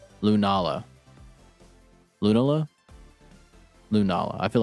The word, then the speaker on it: Lunala: Lunala. Lunala. Lunala. I feel like Lunala makes significantly more sense than the stupid ways I was saying it. All right. Lunala.